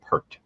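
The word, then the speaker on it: Pärt: It's written like P A R T, but he's Estonian and I think it's pronounced per.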